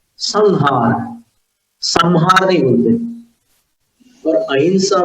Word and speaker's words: अहिंसा: भले अंग्रेज लोग AHIM ऐसे लिख दे, लेकिन वो है अहिंसा।